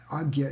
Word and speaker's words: Agya: Agya chakra, Agya is a proper pronunciation, is in between the 2 eyes.